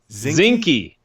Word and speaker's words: Zinke: Interior Secretary Ryan Zinke. Yeah, rhymes with Slinky.